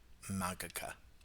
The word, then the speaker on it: Magica: Magica. I gotta get rid of that soft G.